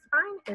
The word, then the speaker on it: spine: looking at is fine silent e on the end it has only one vowel sound that long I and you may have heard this word before a spine is a more scientific